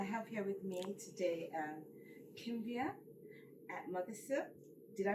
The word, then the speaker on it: Kimbia Mothersill: and gentlemen I have here with me today Kim via Melissa did I pronounce that properly yes you did and I've